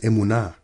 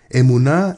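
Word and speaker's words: אמונה: holy Torah was established faith in Hebrew is pronounced Emunah Emunah and Hebrew means three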